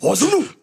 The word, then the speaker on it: Ozunu: I had to say it like that because every time I say Ozunu, I've always said it. Ozunu. And look, that's how they say it in the movie. Just like that.